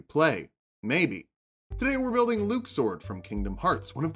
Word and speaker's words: Luxord: here's what we know he likes cards he has time powers and apparently his name is luke sword not luck sword that threw me for